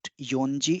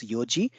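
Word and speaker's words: 四時: in case of four the fourth hour is not yonji it is Yoji but the four minute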